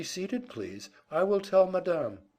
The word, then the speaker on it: madame: She merely said, "Be seated, please, I will tell madame," putting the accent on the second syllable, where Peter had never heard it before.